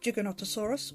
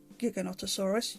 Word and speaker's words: Giganotosaurus: is the nanmu studios giganotosaurus or giganotosaurus you can pronounce it either way i always find